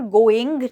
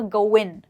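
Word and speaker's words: going: मैंने यहाँ पर गोइंग नहीं कहा, मैंने कहा गोइन, राइट। वो इस वर्ड के एंड में जी को प्रोनाउंस नहीं करते हैं और कहते हैं हाउज इट गोइंग, ओके।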